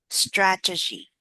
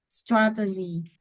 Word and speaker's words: strategy: Uh strata strat G G strategy strategy. Yeah. Stress on the first syllable.